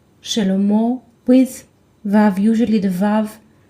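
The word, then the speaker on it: שלמה: up the letter mem so the word sounds like shallow mo with valve usually the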